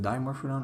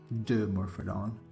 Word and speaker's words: Dimorphodon: do you pronounce it dimorphodon or the morphodon oh that doesn't matter I I would say diamond fit on but because it's it's like dimetrodon right right because I I